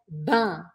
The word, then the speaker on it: ben: bien le même mot mais on le prononce comme dans le mot bain B a i n donc tu vas dire ben bain et ben sers